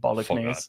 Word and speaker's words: bolognese: Spaghetti Fuck bolognese. that, bin that. Bolognese. Bolognese. Bolognese. Does any of you say bolognese? You say I bolognese. pronounced the G Bolognese.